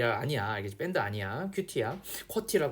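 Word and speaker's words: QWERTY: 알겠지 밴드 아니야 티야 쿼티를 그래 쿼티 쿼터 혹은 쿼티 합니다 어 쿼티는 말이 조금 더 잘 그 입에 붙는데 이게 영국식 발음으로 아마 하는 거 하는 걸로 난 알고 있어요 자 그래서 컴퓨터에 사용된 아무튼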